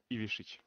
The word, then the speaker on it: Ivišić: Ivišić.